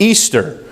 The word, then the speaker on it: Ishtar: Easter, as we know it, comes from the ancient pagan festival of Astarte, also known as Ishtar, pronounced Easter.